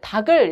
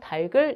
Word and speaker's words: 닭을: 이런 지금 되는 거죠 우리가 이것을 닭을 이렇게 발음하는 경우가 많은데요 달 글 이렇게 하는 것이 올바른 것이라고 볼 수 있겠습니다 평소에 깔리기 쉬우니까 아